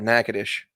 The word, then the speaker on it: Natchitoches: I mean, like, there's a town in Louisiana that's spelled Natchitoches, but most people call it Natchitoches. Yeah. I'm like, I don't understand that. I don't see how that could be pronounced Natchitoches in any way.